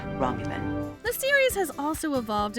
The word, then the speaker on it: Romulan: They say they've annexed this planet in the name of something called the Ramlan Star Empire. Romulan. It's pronounced Romulan.